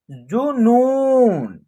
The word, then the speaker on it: जुनून: नौ में बड़ी ऊ की मात्रा है, तो इसका उच्चारण लॉन्ग तरीके से होगा। क्या होगा? लॉन्ग तरीके से इसका उच्चारण होगा नू। उसके बाद क्या है? न, तब जाकर के इसका उच्चारण एक साथ करेंगे जुनून।